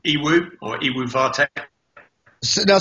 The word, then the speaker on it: Ewoo: They're both made by a South Korean company called Iwu or Iwu Vartec. So, now, spell out that. I hear that all over the world. Spell it, Iwu. The Iwu is spelled as it sounds.